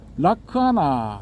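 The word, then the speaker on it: lakkhaṇa: 그 중에서 이제 특징에 해당되는 락사나가 이제 빨리어로는 라크아나 이렇게 발음이 되거든요.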